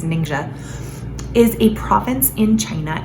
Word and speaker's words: Ningxia: ninja ninja i mean the pronunciations are all over the place but i think the closest is ninja is a province in